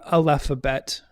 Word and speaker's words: aleph bet: in the alphabet alph the aleph bet am i saying that right the hebrew aleph bet yes the hebrew yeah uh